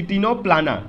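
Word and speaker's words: Ctenoplana: तो सी टीनो प्लान, सी टीनो प्लाना, टीनो प्लाना को हम लोग सी साइलेंट करके पढ़ते हैं, तो टीनो प्लाना, तो यहाँ पे सी टीनो प्लाना लिखा हुआ है।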